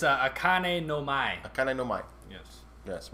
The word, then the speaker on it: Akane no Mai: You mind pronouncing Episode 5? It's Akane no Mai? It's Akane no Mai.